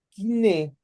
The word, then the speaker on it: koiné: hablar totalmente el griego kiné o koiné, como se escribe, pero se pronuncia kiné, y que era este